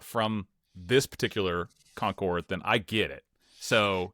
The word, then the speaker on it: Concord: I moved down here from Connecticut about eight years ago and I will never be able to say Concord correctly. I always say conquered because that's how it's pronounced in New England.